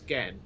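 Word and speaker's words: Genn: So I reckon because it's Jen, but hey. it's Gen, not Jen.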